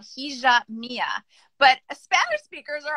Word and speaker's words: hija: I teach is called Hija Mia. But Spanish speakers are always like, wait, you're pronouncing it wrong, right? Because you wouldn't say Hija with the or the J, you would say Hija, right?